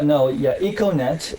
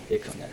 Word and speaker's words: Econet: And sorry if I mispronounced the company name. No, it's good. Yeah, Econet is a very green name, Econet.